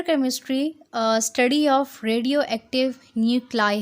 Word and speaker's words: nuclei: न्यूक्लाई NUCLEI, ये spellings actually न्यूक्लियस का plural हैं। एक न्यूक्लियस होगा तो हम उसको न्यूक्लियस बोलेंगे, 2 या 3 या 4 ज़्यादा न्यूक्लियस होंगे तो हम न्यूक्लियस नहीं बोलते, हम न्यूक्लाई बोलते हैं।